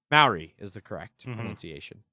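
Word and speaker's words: Māori: Maori is the correct pronunciation.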